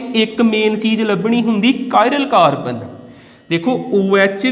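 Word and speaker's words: chiral: कायरल carbon तुसीं कई बार इनू चिराल भी सुनोगे, पर एग्जैक्ट प्रनाउंसिएशन इहदी हुंदी कायरल कार्बन।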